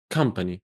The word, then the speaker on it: company: Very similar to the word cut. It's a U. And this one is an O. And guess what? Both of them are pronounced the same. Cut, company. One is an O, one is a U.